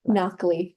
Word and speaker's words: Nakhleh: Nakhleh. It rhymes with broccoli.